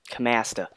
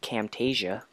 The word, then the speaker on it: Camtasia: Camasta. Just cover up all this water. Or, like, Q's pronunciation of it, Camtasia. Camtasia. I believe it's... You could say it either way.